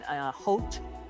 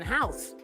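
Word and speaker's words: Howth: we're staying now in Hote. Is that how I say it? Hote. Hote. Yeah, I've been calling people in America going, I'm in my house in house. But that's not how you say it.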